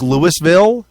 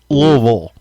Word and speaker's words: Louisville: It looks like Louisville, but it is pronounced Louisville.